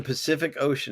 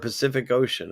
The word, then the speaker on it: Pacific Ocean: something we said earlier every sea in Pacific Ocean is pronounced differently isn't that interesting that's